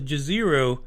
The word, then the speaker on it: Jezero: saying that the name of the crater was Jezero because that's what it fucking reads.